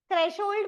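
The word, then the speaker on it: threshold: Single M double R थ्रेशहोल्ड में H silent है। इट्स नॉट थ्रेशहोल्ड और double H भी नहीं है। थ्रेश एस एच होल्ड एच ओ एल D double H नहीं single H बट no sound थ्रेशहोल्ड मतलब क्या होता है इसका?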